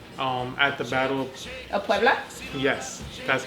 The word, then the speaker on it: Puebla: Of Puebla?